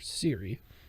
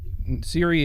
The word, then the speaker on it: Ciri: Geralt of Rivia, comes upon his adoptive daughter, Ciri. Mm-hmm. Cirilla is her full name. Yeah. Spelt with a C, not Yes, like- Ciri.